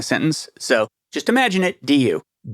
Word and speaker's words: du: Do is spelled du. Du. Yeah. It's helpful to think that because otherwise it sounds like doo when you're saying it and it can get confusing in a sentence.